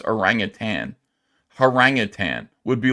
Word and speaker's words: orangutan: Because it's actually spelled, you want to call him orangutan because it rhymes, but it's orangutan.